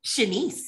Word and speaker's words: Shennice: Because even reading, is it Shennice? Is that how you pronounce it correctly, Shennice? Shennice, yes.